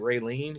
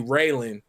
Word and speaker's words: Raylan: My daughter's middle name is like people pronounce it Raylene, which is fine, but it's really Raylan, which is based on the character from Justified, Raylan Givens.